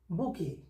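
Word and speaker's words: bouquet: Needed to বাই দ্য বুকেট, বুকে, sorry, Aruna needed to বাই দ্য বুকে, অরুণার ফুলের তোড়াটা কেনা প্রয়োজন ছিল, অরুণার ফুলের তোড়াটা কেনা প্রয়োজন ছিল বা দরকার ছিল, এটা হবে বুকে উচ্চারণটা। এটা কোনো প্যাসিভ সেন্স না,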